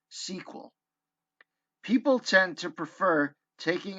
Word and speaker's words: SQL: SQL is more commonly pronounced SQL.